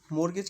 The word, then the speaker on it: mortgage: मोरगेज की spelling में टी आता है यहां पे एम ओ आर टी जी ए जी ई ये होता है मोरगेज।